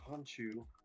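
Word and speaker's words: Khonshu: say his name yeah the actual egyptian pronunciation is hanchu but we're right i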